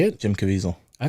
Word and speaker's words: Caviezel: Jim Caviezel.